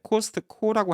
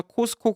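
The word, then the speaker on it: Costco: T자 발음을 꼭 해야 되는 줄 아는 거예요. 그래서 T가 들어서 코스트코 이렇게 적어요. 그건 한국 기자들도 그렇게 적어요. 그래서 차라리 그냥 코스코 그래서 코스코 그러면 그냥 발음이 원래 발음이랑 조금 다른다 하더라도 아예 뜬금없는 발음 아닌데 아예 발음을 안 할 걸 발음하니까 그거는 트 발음이니까 또 아주 세니까 확 들려요.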